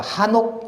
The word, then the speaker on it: 에녹: 성경은 에녹이라고 기록하고 있지만 하 발음이 더 강하다고 합니다. 그러니까 에녹을 한옥이라고도 칭하고 읽기 까닭에 참고하시라고 히브리 원문을 그리고 발음을 거기에 기조해 놓았습니다. 다른 곳에서 에녹이 아니라 한옥 이렇게 하는 이름이 보여지면